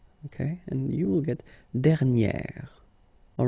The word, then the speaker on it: dernière: And you will get dernière.